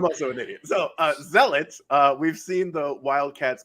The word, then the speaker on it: zealot: building this did you say zealot sell it zelda zealot my bad yeah it's the word zealot zealot i always say zealot